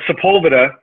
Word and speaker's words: Sepulveda: It's Sepulveda. Sepulveda. It's going to be Spanish about it.